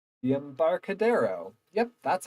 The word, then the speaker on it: Embarcadero: apartment finally we're walk around the M the Embarcadero yep that's how that's pronounced up to our bunch of vendors with